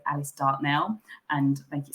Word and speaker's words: Dartnell: So I would pronounce it in my southern accent, probably a bit too common southern accent, Alice Dartnell.